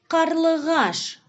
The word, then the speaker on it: қарлығаш: Мынау қарлығаш. Назовите специфические звуки казахского языка, которые вы услышали. К, Г. Давайте вместе правильно произнесем это слово. Қарлығаш.